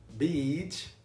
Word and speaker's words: beach: Beach, bitch. Beach, bitch. Olha só a diferença. Praia, beach. Você abre a boca pro lado, sorri, beach.